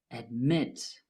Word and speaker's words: admit: Admit has two syllables, though the last syllable is stressed. Admit.